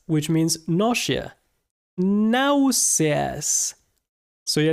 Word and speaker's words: náuseas: The second one is náuseas, which means nausea. Náuseas. So yeah, it's kind of like the same word, but we pronounce every letter and the letter S.